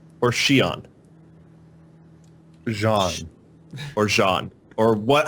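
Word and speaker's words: Xi'an: Jean. Or Jean? Or what? How? Xion. Xion? Xion or Xian. Well, XI in English is pronounced, even though it's a Chinese word, is we pronounce it as she.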